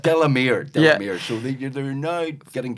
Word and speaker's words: Delamere: Even I was getting going, it's Delamere. It's only 3 fucking syllables. It's Delamere.